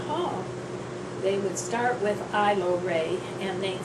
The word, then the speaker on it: Ailorae: I went through school everyone tried to pronounce the A and it was allegory or allery or whatever and finally in 11th